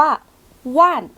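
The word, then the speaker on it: 万: หลัก หมื่น หลัก หมื่น ของ เรา อ่าน ว่า ว่าน ว่าน หลัก เบื่น อี๋ ว่าน เรียง ว่าน อู่ ว่าน จิว ว่าน อ่ะ เลข ของ เรา หลัก เลข นะ คะ จะ มี อยู่ 3 อย่าง เนาะ มี ป่าย เซียน ว่าน มี ถึง แค่ หลัก หมื่น ที เนี้ย ก็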